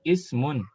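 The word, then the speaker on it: اسم: Kalau di awal kata untuk isim, tinggal di kasrah. Qalidna ismun.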